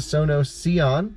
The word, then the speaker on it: Sono Sion: spec reviews video thanks for checking out the sono seon that's how i say it right exactly and